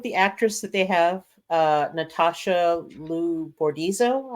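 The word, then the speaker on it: Natasha Liu Bordizzo: Natasha Lou Bordizzo, I believe is how her name is pronounced.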